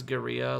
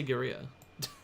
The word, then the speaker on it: guerrilla: off the perfect crime did i just pronounce guerrilla like quesadilla isn't that how it's pronounced uh gorilla or gorilla in america the hell but it's like but it's like guerra is the spanish word for war and then two l's is pronounced as a your sound isn't it etymology the